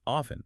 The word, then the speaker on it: often: Often is also quite common. Maybe 70 80%. And remember, you can say it like often or often. Both are fine.